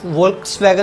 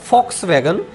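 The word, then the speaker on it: Volkswagen: इसके बाद फॉक्सवैगन, यानी कि इसको लिखा तो वोल्क्सवैगन लिखा गया, आपने देखा होगा, चित्र में देख पा रहे हैं, परंतु इसकी जो जर्मनी की प्रोनाउंसिएशन है वो है फॉक्सवैगन।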